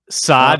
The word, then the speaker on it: Saad: number 20 is uh brandon saad is how you say yes saad who had the game